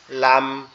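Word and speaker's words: لام: যায় এটার নাম হচ্ছে লাম এটার নাম হচ্ছে লাম এটার উচ্চারণটা খুবই সোজা জিহ্বার আগা উপরের তালুর সাথে লাগবে জিহ্বার আগা উপরের তালুর সাথে লাগবে সিম্পল ভাবে উচ্চারিত হবে লাম লাম লাম একটা আপনি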